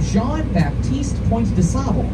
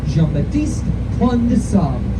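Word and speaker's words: Jean Baptiste Point du Sable: father of Chicago, and I just said that guy's name wrong. I said how most Chicagoans say his name. It's Baptiste Pointe de Sable, but that's not right. He was a Haitian man. He spoke French. His name was French, and I once had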